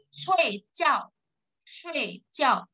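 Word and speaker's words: 睡觉: Shui jiao. Bukan shui tapi shui. Bacanya e. Walaupun tulisannya SHUI.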